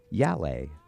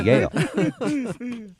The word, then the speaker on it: Yale: a little place called yal oh excuse me that's Yale I mispronounced it he's a Yale grad